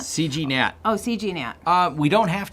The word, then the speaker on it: CGNAT: Is that pronounced right, CNAT? CGNAT. Oh, CGNAT. We don't have to. The G's not silent? Yeah, the G's not silent. CGNAT.